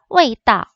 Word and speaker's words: 味道: 味道味道. 자, 味道 하게 되면은 맛이란 뜻입니다. 맛. 그래서 맛 밑자에다가 길 도자인데 맛을 味道 라고 말을 하는데 뒤에 있는 따오는요. 사성을 꼭 지켜서 말한다기보다는 약간 살짝 발음해 주시면 돼요.